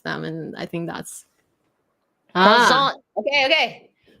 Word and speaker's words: croissant: Craw. Don't pronounce the I. Emphasize the R. You pronounce the I. Craw. And then AN is the Yes. And you don't say the T. And you don't say the T, so it's croissant.